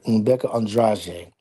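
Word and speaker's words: Rebeca Andrade: I believe I'm going to say this right, Rebecca Andrade. I believe that's the proper pronunciation for that.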